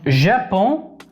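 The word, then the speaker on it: Japon: Acuérdense que la J aquí tiene un sonido de Y o doble L del español. Ya. Pon. Pon. La E no se pronuncia, ¿ok? No se pronuncia la N. Japón.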